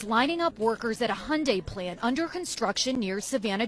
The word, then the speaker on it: Hyundai: Hyundai. That's how you pronounce it.